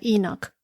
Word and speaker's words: Enoch: En inglés se pronuncia Enoch.